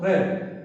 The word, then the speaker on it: read: Spelling is same but has to be pronounced read.